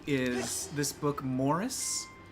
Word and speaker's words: Maurice: like is this book Morris it's spelled like Maurice but it's pronounced Morris come it's by e